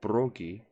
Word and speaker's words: Bragi: What I was saying is that Bragi, or Brogi, as it's also pronunciated, is the one who wrote the Proceda, the stories of the gods in the Norse mythologies.